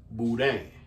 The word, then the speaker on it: boudin: you're Cajun of course you say things with the accent so it's going to be boo dang so that's what they